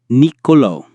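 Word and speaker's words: Nicolò: Some words are written with an accent on the final vowel. This means, of course, that you must put the main stress on that vowel. Nicolo.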